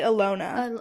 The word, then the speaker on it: Alona: now get into it how do you say your name Alona Alona I say Alona yeah why are the